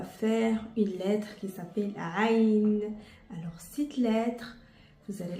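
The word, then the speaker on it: عين: C'est une lettre où la plupart des Français, ils ont pris l'habitude de la prononcer par A ou par O. Alors, aujourd'hui, on va essayer de la prononcer comme il faut ou au moins de la comprendre.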